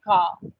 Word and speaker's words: car: We say car. In third, we don't really use the r sound. We say third and the r is not pronounced.